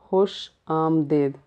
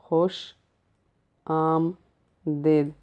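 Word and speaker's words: خوش آمدید: Welcome, खुश आमदीद, खुश आमदीद. Actually it's a one long word and I write in different color so that easy to pronounce it. So say खुश and then say and then say देद.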